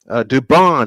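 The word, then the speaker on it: Dubón: To bat for the Astros will be Jeremy Pena, Cam Smith, and Mauricio Dubon. 6, 7, and 8. Dubon is the correct pronunciation.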